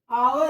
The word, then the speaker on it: hour: Hour is, when we are writing hour, we use H first alphabet as hour, but when we pronounced hour, we used H as silent.